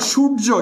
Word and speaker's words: সূর্য: ওকে এখানে যেটা হচ্ছে বর্ণের সাথে বফলা মফলা জফলা যদি যুক্ত থাকে তাহলে বর্ণের দ্বিত্ব উচ্চারিত হয়।